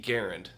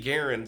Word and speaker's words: Garand: Garand. That's right, it's actually pronounced Garand.